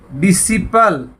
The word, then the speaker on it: disciple: तो यहाँ भी सी साइलेंट है असेंड में। आगे देखिए DISCIPLE, डिसिपल, डिसिपल होता है शिष्य, यहां पे भी सी साइलेंट है।